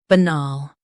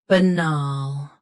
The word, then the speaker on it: banal: shown on the screen, banal. Both US and UK have the same pronunciation of this word. Stress nal. Keep b soft and quick. Banal. Banal. Stress nal. Keep b soft and quick.